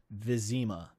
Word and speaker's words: Vizima: Also, if it helps, the game pronounces the city of Vizma, Vizima.